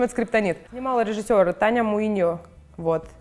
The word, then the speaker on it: Скриптонит: Группа Скриптонит, Скриптонайт, как правильно? Потому что, ну типа, на английском теперь пишется все сложно. В общем, это Скриптонит.